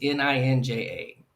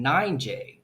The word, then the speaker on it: ninja: the most dangerous criminals list is it says N I N J A ninja. She's a ninja. But the marshall looks at it and mispronounces it and thinks it's her name. Nine J.